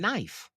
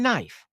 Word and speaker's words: knife: He said, "Well, why is the K silent in knife?"